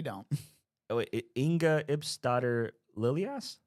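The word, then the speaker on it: Lilleaas: Oh wait, Inga Ipsdotter Lilias. Lilius, yes.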